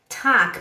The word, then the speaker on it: Tag: Tag, se escreve com T-A-G, né? No alemão seria T-A-G. G, mas você fala como se fosse T-A-K. Tac.